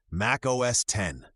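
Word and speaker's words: Mac OS X: In March 2001, Apple released Mac OSX, pronounced Mac OS 10.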